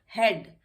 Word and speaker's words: head: और इससे कर देते हैं हम इसको मार्क, इसमें ए साइलेंट हो जाता है, यहाँ पे भी ए साइलेंट हो जाता है। हेड, HEAD, हेड, इसमें भी ए साइलेंट हो जाता है।